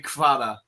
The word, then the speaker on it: Kvara: I had a Georgian student at summer camp, and he said they just say Kvara. So they just call him Kvara.